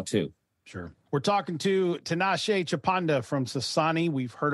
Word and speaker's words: Tinashe: Tinashe, by the way, is originally born in Zimbabwe, which is how you remember to say his name right.